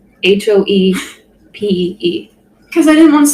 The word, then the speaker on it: Hopi: our shared Google Doc and wrote Hopi, Hoepee.